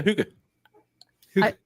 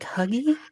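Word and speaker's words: hygge: Huga. I was I was like huggy.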